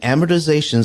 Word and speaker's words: amortization: Why is because the ability to read an amortization schedule.